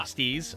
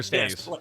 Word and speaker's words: Steez: Am I saying it right? Steez or Stays? Yes, it's like Steez nuts.